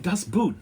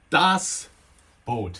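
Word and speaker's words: Das Boot: an otherwise great documentary about the making of Dosboat and the American kid who put it together just drove me crazy. I mean, I was pulling my hair out and you know, because he kept saying dust boot, dust boot, dust boot, dust boot.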